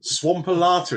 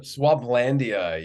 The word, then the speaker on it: Swamplandia: Oh my good grief, Swampalata, is it? Have I got that pronunciation right? Have I then? Swamplandia, yeah. Swamplandia, nowhere near that, right?